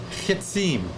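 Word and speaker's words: חִצִּים: and now you're it's going to be uh kitsim kitsim is that how you pronounce it louise yes okay thank you thank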